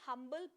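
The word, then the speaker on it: humble: Then आते हैं हम्बल person. अब देखो यहाँ पर एच वॉज साइलेंट, यहाँ पर एच साइलेंट था, यहाँ पर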